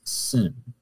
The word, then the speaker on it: Sin: But then if the accent's on the left, it's pronounced Sin without the H.